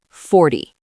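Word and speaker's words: forty: 40. The stress is on the first part, 40.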